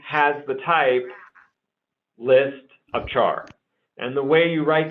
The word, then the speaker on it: char: has the type and I just pronounced a char that's just a personal program so a has type